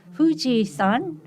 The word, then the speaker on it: Fuji-san: Fuji-san, it means, it's pronounced the same way as Mount Fuji, the most famous mountain in Japan.